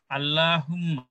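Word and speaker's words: اللّٰهُمَّ: আসলে লামের আগের হরফে, লামের আগের হরফে যদি জবর থাকে সেক্ষেত্রে আল্লাহর উচ্চারণটা পুরো হবে, আগের হরফে যদি জের থাকে তাইলে পাতলা হবে, আগের হরফে পেশ থাকলেও পুরো হবে।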